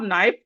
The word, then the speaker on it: knife: cannot hear them so example we have knife here K is silent we have knife We have ni.